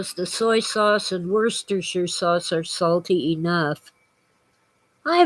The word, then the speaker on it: Worcestershire: it was worcestershire or were sister sure but you know it comes from england and the english say worcestershire and we often said shire instead of sure on the end you see english people